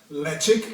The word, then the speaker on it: Ledaig: that Harbor was called leic now leic is pronounced leic like I said although it is written l